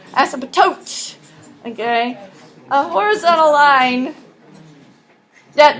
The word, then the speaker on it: asymptote: say it right so say it fast and melt it all together as a tote okay a horizontal line